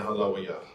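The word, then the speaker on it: הללויה: Instead of saying Halawayah.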